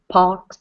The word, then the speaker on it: box: upper box of toys so if it helps you imagine you're saying an M sound right before it so it's box okay the up okay